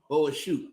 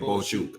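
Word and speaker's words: Bohachuk: Boachuk. That's how they pronounce it. Yeah, Boachuk. I say Chuck, but Boachuk.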